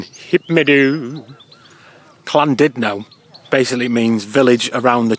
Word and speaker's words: Llandudno: I've been calling him St Tudno for ages, but it's actually pronounced St Tudno. Just like it's not Llandudno, it's Llandudno.